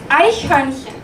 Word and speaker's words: Eichhörnchen: This one's pronounced Eichhörnchen.